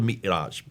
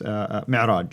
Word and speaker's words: Mi'raj: But that's where called the Miraj. How do you pronounce it? Yes, Mi'raj.